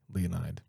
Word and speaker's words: Leonid: It's lit literally Leonide. Is it Leonid or Leonide? Leonide.